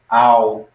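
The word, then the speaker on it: αυ: And then alpha upsilon would be ow. So that would kind of like a cow, like this.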